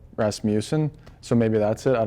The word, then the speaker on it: Rasmussen: rasmussen i think like some announcers might pronounce my name like with a moose kind of in there instead of like rasmussen so maybe that's it i don't know oh